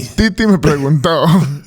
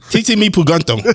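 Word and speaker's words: Tití Me Preguntó: Bad Bunny. Titi me preguntó. TT Me Puganto.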